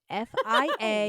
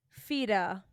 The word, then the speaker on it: Fiadh: Fida. Okay, Casey. Fed. This is difficult, Mare. What did you say? Fed. It's Fia. Huh. You don't pronounce It's the D at all.